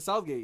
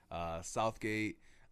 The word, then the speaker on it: Southgate: If you're from around this area or close to, like, a 10-mile radius, no one ever pronounces the TH in Southgate. Oh no, it's Southgate.